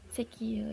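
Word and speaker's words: 石油: Di sini ada kanji batu seki dan kanji minyak y. dan gabung jika digabungkan ini dibacanya jadi sekie yang artinya minyak bumi.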